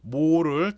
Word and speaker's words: mho: 즉 오음을 OHM을 거꾸로 쓰면 MHO가 되지. 그래서 이걸 모라고 읽으면 된다라는 얘기예요.